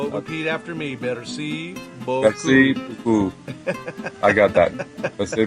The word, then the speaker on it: merci: Merci How about beaucoup. thank you? Oh, merci. Okay. Repeat after me. Merci beaucoup. Merci beaucoup.